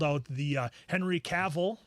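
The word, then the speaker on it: Cavill: out the uh Henry caval I got his name right that time rhymes with travel uh when he did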